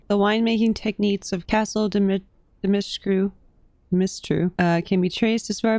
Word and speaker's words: Dimitrescu: Dimitrescu?